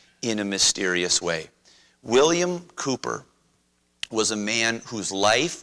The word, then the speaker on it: Cowper: British man named William Cooper in English in American English we might say Cowper because that's what it looks like William Cooper in the